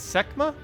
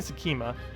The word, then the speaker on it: Sekhma: video tomorrow then it's semma SE semma is semma correct I keep saying skma everyone keeps saying it's only two syllables so semma is that